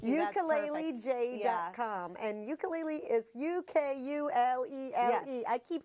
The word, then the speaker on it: ukulele: And ukulele is Ukulele. Yes. I keep spelling it wrong. Ukulele. Like if you were in Hawaii and you said it, it would be like ukulele.